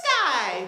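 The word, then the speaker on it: Skye: activities they do and her name is Sky it's SK ye and she goes to the sky sky so I guess technically that's a rhyme I don't know I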